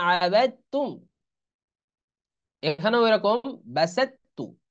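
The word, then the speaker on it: بسطت: এখানেও এরকম বাসাত্তু, এই ত উচ্চারণে আসবে না, কারণ এটা একই মাখরাজ, ত তা, কিন্তু প্রথমটা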